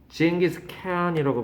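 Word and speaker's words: Genghis Khan: 징기스 칸이라고 발음하고요. 스펠링이 조금씩 달라요 나라마다.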